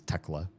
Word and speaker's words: Theoclea: So Theoclea pronounced the Finnish way as Tekla.